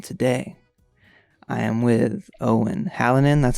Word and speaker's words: Hallinan: south carolina and today i am with owen hallinan that's how you pronounce your last name it was actually really